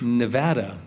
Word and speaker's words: Nevada: we're mispronouncing it when we use the Spanish pronunciation and say Nevada or snowfalling what what what what Nevada as a matter of fact you say no to that well don't go to Nevada because they will correct you instantly as they